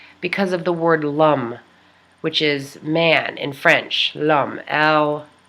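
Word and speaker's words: l'homme: in french apostrophe h-o-m-m-e lam you say it like this lam and it looks like loam if you were gonna read it through an english speaking person's mind it looks like a loam loam but it's lum according to my friend who taught me how to say the poem and she said you say lam like yum which is the uh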